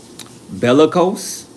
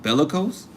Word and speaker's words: bellicose: G Bellose. Really? That's how you say it too, ain't it? Bellicose.